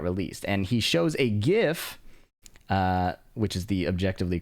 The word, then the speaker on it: GIF: And he shows a GIF, which is the objectively correct pronunciation of the word, by the way, of the different proportions before and after the patch.